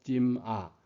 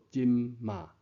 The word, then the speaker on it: 今兒: 现在闽南语讲今啊，有人拼音再拆音，就读做今嘛。